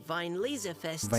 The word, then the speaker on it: Weinlesefest: That's how you pronounce it. Weinlesefest.